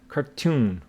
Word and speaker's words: cartoon: Words with 2 E's or 2 O's carry the stress on that syllable. For example, our word is cartoon. So you see that the stress falls on this syllable, tune.